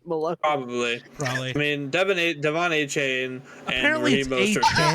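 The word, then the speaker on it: Achane: so it's A-Chain. You pronounced your name incorrectly.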